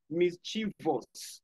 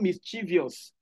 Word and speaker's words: mischievous: Mischievous, not mischievous. You often pronounce this as mischievous. It's actually mischievous. Mischievous. Take note.